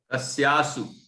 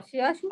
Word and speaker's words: तस्याशु: तस्यासु, वही वाला ना? हाँ हाँ, तस्याशु आपने बोला तस्यासु, मतलब वो बोलने में थोड़ा सा बंधनोत्थम नहीं, वो तो ठीक है।